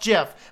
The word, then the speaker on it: GIF: be epic is it jiff or is it gift according to the guy who created it it's pronounced jiff but of course now